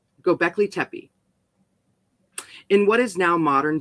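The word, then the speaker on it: Göbekli Tepe: sanctuary now known as gobekli tepee right i want to go to go black i want to go there go i said it right the first time go beckley tepee in what is now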